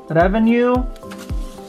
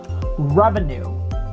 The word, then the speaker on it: revenue: Revenue, revenue, revenue. We can also say revenue, revenue, revenue. Some Filipinos would read this as revenue, revenue, with a rolling R.